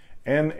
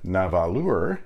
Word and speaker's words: Nahvalur: This might be a little confusing until you find out it's pronounced exactly the same as Narwhal. Only the spelling is different. Nahvalur is Icelandic for narwhal,